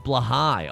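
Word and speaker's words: Blåhaj: It's pronounced blahai.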